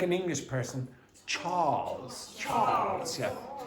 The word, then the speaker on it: Charles: Charles. Yeah. Don't pronounce the R. Just elongate the A.